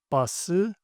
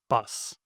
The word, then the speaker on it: 버스: Make sure to pronounce these using the Hangeul sounds, not English. Do this by reading the Hangeul syllables. For example, you'd say 버스, not bus.